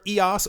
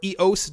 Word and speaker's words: EOS: we will be going over EOS or yose depending on how you want to pronounce it I believe EOS was the way that I first heard it when it was